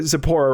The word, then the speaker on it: Zipporah: It'd make a lot more sense for Zipporah, right?